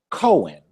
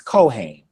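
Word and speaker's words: כֹּהֵן: may hear some people rush it and say Cohen Cohen is a common last name amongst Jewish people c h n Cohen but the proper pronunciation is cohain the cohain is the priest the cohain is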